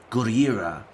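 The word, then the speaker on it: ゴジラ: The original 1950s version actually says it multiple ways. First, a fisherman who heard tale of Godzilla called him Gojira.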